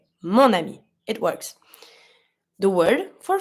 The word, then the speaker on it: mon ami: So you're going to say mon ami. It's smooth.